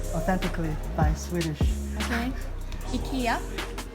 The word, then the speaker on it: IKEA: Not IKEA. No, I think it's in English. IKEA. In Sweden we say IKEA. IKEA. IKEA.